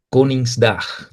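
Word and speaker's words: Koningsdag: El día del rey, como les dije, se pronuncia Con's dag. Dag es para día y con como king en inglés. Coringdag es el día de rey.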